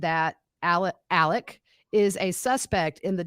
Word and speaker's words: Alex: thing uh it's not Alex it's pronounced Alec which is the southern way to pronounce Alex I'm not sure why